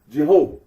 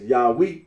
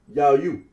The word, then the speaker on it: Yahweh: can be little doubt that it is not Jehovah. Mar P. Arnold remarks that certain conclusions drawn from the pronunciation of as Yahweh would be valid even if the scholarly consensus were not correct.